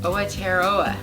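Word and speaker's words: Aotearoa: to look it up, but it's spelled A-O-T-E-R, A-O-T-E-A-R-O-A, but it's pronounced Awatearoa.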